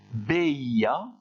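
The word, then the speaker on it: veía: Ber, attention, le V se prononce comme un B, et ça donne beia, beias, beia, beiamos, beiais, beian.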